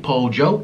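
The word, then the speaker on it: pollo: know what polio is in colombia you pronounce pojo uh chicken po joe it's a hard j sound excuse me and um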